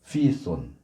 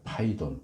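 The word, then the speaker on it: Πύθων: 피시아이 시아는 어 아폴로가 무찔렀다고 알려져 있는 뱀괴물 피손 헬라어로는 손인데 영어로는 아마 들어보셨을 수 있어요 파이돈이라고 번역됐다 발음이 이제 언어마다 다르니까 파이돈 뱀 괴물 중에 파이돈이라는 괴물이 있는데 이게 원래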